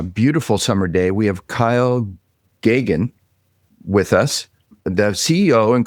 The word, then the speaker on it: Geoghan: We have Kyle Gagan with us, the CEO and co-founder of Indem AI.